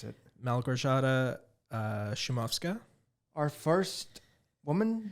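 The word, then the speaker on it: Małgorzata: we are covering 2019's the other lamb by Mel gorshada that's how you pronounce it I did not know how to pronounce it Mel gershotta uh schumafska our first woman director on the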